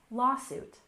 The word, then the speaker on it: lawsuit: duty next we have lawsuit with a stress on the first syllable lawsuit lawsuit for example the company